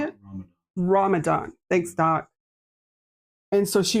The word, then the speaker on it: Ramadan: Ramadan.